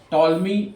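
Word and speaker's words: Ptolemy: Alexandria was commission by टॉलमी वन सॉटर इसको toll में पढ़ेंगे पी साइलेंट हो जाएगा द लाइट हाउस एट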